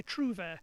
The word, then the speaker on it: trouvère: I mean, the French, when they pronounce it, they growl the R. But as far as we know, that R wasn't growled in the 12th and 13th century. So if we say trouvère, we can get away with that.